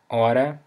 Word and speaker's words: hora: The word hora, which means hour. Again, you don't pronounce the H, alright? So, hora.